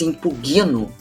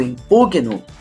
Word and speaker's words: impugno: Veja, o correto é eu impugno. Não se diz impugno. Não, Augusta, não. Eu impugno.